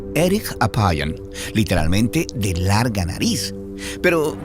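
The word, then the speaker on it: ארך אפים: En hebreo, la frase lento para la ira se pronuncia erich apayan, literalmente de larga nariz.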